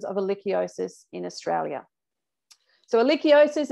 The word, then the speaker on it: Ehrlichiosis: been the detections of eliciosis in australia so elechiosis it's a bit of a mouthful it's pronounced erlichiosis it's caused by the bacteria alikia canis and